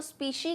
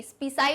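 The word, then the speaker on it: species: कोई अगर complicated word लगता है, जैसे स्पीशी, स्पीसाई मत कह देना इसको, स्पीशी।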